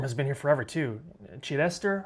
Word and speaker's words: Chidester: Chidester, I think is how you say that.